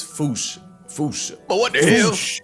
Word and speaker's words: fossa: But if you follow the Attenborough rule, Sir David would have had you saying Fossa. What if I told you both are technically wrong? Because their name comes from the original Malagasy word, and apparently the correct way to say it is Foosh.